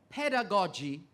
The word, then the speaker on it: pedagogy: To Lenworth Wright now, a word that has two possible pronunciations, pedagogy or pedagogy.